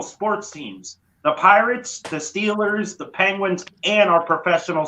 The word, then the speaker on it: Steelers: pittsburgh roots for the steelers nobody they root for the stillers that's how they pronounce it pittsburgh steelers and robert